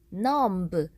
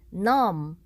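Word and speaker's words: numb: 뜻을 가진 단어 넘 이때 e 는 묵음 이어서 넘 부 라고 발음하는 게 아니라 넘 넘 이렇게 발음 하시는 것만 요의 해주시면 될 것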